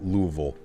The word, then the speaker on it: Louisville: That is the proper pronunciation of Louisville.